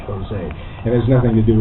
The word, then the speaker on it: Jose: first composer's name is Jose but it's James h o s a y Jose it has nothing to